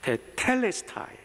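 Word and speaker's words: τετέλεσται: 헬라말로 하면 테텔레스타이, 죄송합니다, 액센트를 잘못 발음했어요. 테텔레스타이, 에큐트 액센트가 2번째 인절에 있습니다.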